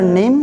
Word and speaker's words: know: मैं मकानों मतलब जानना इसमें के साइलेंट है नू में आई नो